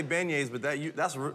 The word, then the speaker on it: beignets: yeah man and uh is that how you say it ban yays have i been you've been saying it wrong no it's i say beignets but that you that's